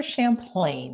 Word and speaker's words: Champlain: Champlain is the correct pronunciation, but I accept all kinds of pronunciations.